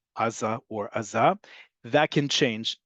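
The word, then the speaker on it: עזה: as the fact that in modern Hebrew, the default is on the last syllable. Aza is how you would say it, not just like Gaza in Hebrew or Gaza in Arabic, but that's also to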